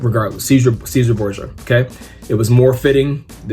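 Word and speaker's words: Cesare Borgia: the preferred image of, I'm just going to say the English way of saying it, Caesar Borgia. I know if you pronounce it in Latin or in Italian, it's different, but regardless, Caesar Borgia, okay?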